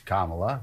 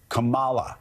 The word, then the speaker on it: Kamala: you know Kamala I that's not how you pronounce it you know it's Kamala because certainly you hear it every day that and they go back to cala it's it's like a